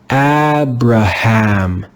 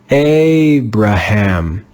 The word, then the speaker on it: Abraham: If this word followed the rules, we would read it as Abraham, Abraham, Abraham. But that's not how we read this word. This word in English is read as Abraham, Abraham, Abraham. This is an irregular word. It doesn't follow the normal rules.